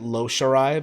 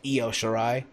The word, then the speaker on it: Io Shirai: I talked about this earlier on the NXT review this past Wednesday, where apparently I mispronounced Io Shirai. I said Lo Shirai, but it's Io Shirai.